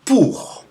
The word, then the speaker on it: pour: Like, for example, OU means, or is pronounced OU. OU like in pour, which is not pur, which is pure, which is U with a tight throat, but it's OU with an open throat, pour. Okay, OI is pronounced wa, like in moi, me.